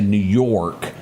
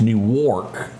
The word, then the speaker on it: Newark: I almost want to say New York, but it's Newark. Airport.